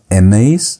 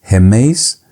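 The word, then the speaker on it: ἡμεῖς: Remember, there's that rough breathing mark that is causing H sound. It's not emes, it's hemes. So the plural you have hemes, hemon, hemin, hemas.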